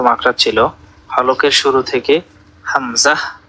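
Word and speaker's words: ح: আমরা গলায় যদি একটা প্রেসার ক্রিয়েট না করি তাহলে কিন্তু আমাদের এই দুইটা হরফের উচ্চারণ শুদ্ধ হবে না।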